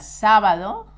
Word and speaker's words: sábado: Remember that sábado has an accent on the first A.